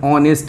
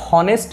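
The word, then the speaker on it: honest: সেইটো কিন্তু কি হয়েছে অনেস্ট বলে আমি উচ্চারণ করো হনেস্ট নহয় ইয়াত কিন্তু যেটো হা সাউন্ড এইচর সাউন্ড যেটো সেইটো কি আছে সাইলেন্ট আছে উজ্জ আছে আর সিধা কোনটো মানে আমি আর্টিকুলেট করছো এই ভাওয়েল সাউন্ডটো ও যেটা ভাওয়েল সাউন্ড আছে সেইটো উচ্চারণ হয়েছে কি হয়েছে এইটো অনেস্ট হনেস্ট নহয় সিধা অ আহি গৈছে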